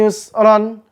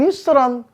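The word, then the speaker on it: يسرا: al-insyirah fainna maal Usri Yusron tuh tulisannya tuh ya maka cara bacanya jangan Yusron cara bacanya fainalri Yusro ya maka yusranya jadi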